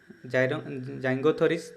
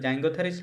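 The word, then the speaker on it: Syringothyris: Marker horizon of Devonian in Himalaya is called Lipak formation, Po formation, Muth quartzite, and Zingothoris limestone. I think the pronunciation is correct, Zingothoris, because I think here S is silent.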